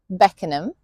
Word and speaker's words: Beckenham: Then we have the ones written like ham but sounds like um for example Beckenham Clappam Fulham Tottenham Cot Road.